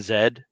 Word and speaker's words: Z: I thought was vitamin z and since it's British it's actually vitamin Zed um and that that